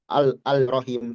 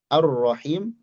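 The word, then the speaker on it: الرحيم: Kita tidak baca Al-Rahman, Al-Rahim, tapi Ar-Ro, Ar-Ro, langsung ke Ro. Nah, di sini dikatakan yuntoku biro'in musyaddadah. Diucapkan dengan ro bertasydid ba'da hamzatil wasli, setelah hamzah wasal. Ar-Ra, bukan Al-Ra.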